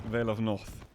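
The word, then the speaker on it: Vale of North: vale of that or as it correctly seems to be pronounced veil of north anyway a ring out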